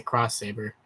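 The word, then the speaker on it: Xross Saber: x ross sabre but you pronounce the cross saber the x is like in replace of the c it's weird um but what was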